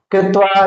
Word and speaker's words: क्त्वा: कत्वा को क नहीं बोला त बोला जाता है। क साइलेंट होगा उसमें से।